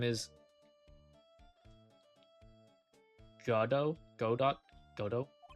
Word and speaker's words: Godot: Godot? Godot? Is it pronounced Godo? I remember... Because I remember him in the anime. Or like the animated version. Okay, yeah, Godo.